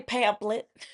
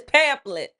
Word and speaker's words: pamphlet: Last I heard, PH makes the F sound. Type it in the Google hand to say it. Uh, Siri, say pamphlet.